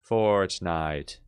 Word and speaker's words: Fortnite: Okay, beginning of it, no diphthong here. Fortnite.